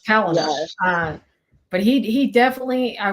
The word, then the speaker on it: Palahniuk: I was always like, how do you pronounce his last name? Oh, he's so dark, but I love it. Yeah, it's Palinur.